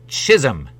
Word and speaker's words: Chisholm: that start with a j I asked no it's spelled Chisholm c h i s h o l m